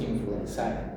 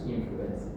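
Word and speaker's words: Haemophilus influenzae: En latín ae se pronuncia e por eso no decimos a hemófilus influenzai, se dice hemófilus influencer.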